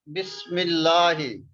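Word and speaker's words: بِسْمِ اللهِ: Sometimes it appears in the word without alif lam, like Bismillahi. You can see here Bismillahi. So this meme we will pronounce with this lam, and this Hamza we don't pronounce.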